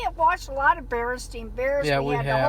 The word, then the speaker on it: Berenstain: bears everybody thinks that it's called the berenstein bears but in reality it's actually called the baron stained bears because the the real people are called berenstein well that's their name that's how it's spelled and so people people uh have always remembered the wrong thing you actually said are supposed to say the berenstain bears and you know talk